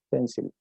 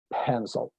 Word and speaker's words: pencil: Pero la gran mayoría de mis alumnos, si no todos, pronuncian la primera pencil, ¿cierto? Tal cual lo leerían en español. Y la pronunciación en inglés es pencil.